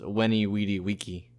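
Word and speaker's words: Veni, vidi, vici: On that same token, Veni Vidi Vici is actually pronounced, because V's were W's back then. So Veni Vidi Vici, the famous I came, I saw, I conquered, was actually pronounced Weni Weedy Wiki.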